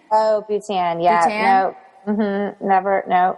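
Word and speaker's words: Bhutan: next one is I'm definitely going to um mispronounce this it's BH u t an butan oh butan yeah no mhm never no haven't in there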